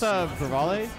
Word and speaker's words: Revale: Well, we got ShyKin versus Revel? Oh. I think I'm saying it wrong. That's Revale. Revale?